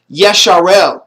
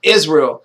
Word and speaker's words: Israel: his name and nature it was yesharel not Israel stop saying I'm I mean